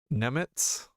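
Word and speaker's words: Němec: Isn't C pronounced as TS?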